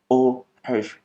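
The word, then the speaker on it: eau fraîche: तो जो सबसे लो क्वालिटी होती है उसको फ्रेंच प्रोनाउंसिएशन में ओ हैश पढ़ते हैं, जिसको कि हम इंग्लिश में फ्रेश वाटर भी पढ़ सकते हैं।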